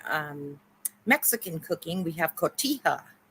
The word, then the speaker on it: Cotija: we have in um Mexican cooking we have Cotija Cotija cheese it's spelled c-o-t-i-j-a Cotija and it's uh again it's like a